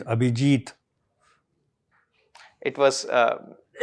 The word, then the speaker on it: Abhijeet: Abijit. Okay. But it is Abhijit.